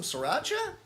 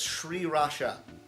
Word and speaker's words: sriracha: mix that with some sriracha also fun fact it's not pronounced Sriracha it's SRI Rasha I've I've apparently been